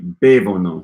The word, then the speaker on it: bevono: It should be bevono, stress on the first syllable.